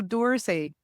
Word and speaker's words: Dorsay: Dorsay? Kind of like the museum in France. I just want to make sure I'm pronouncing it correctly. So Dorsay, and I was just chatting with him.